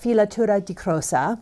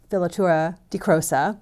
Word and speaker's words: Filatura di Crosa: if you aren't familiar with filatura de crossa you can also just call it villatura de crossa if you're an english speaker but i actually asked an italian speaker to help me with the pronunciation on this so i'm pretty proud of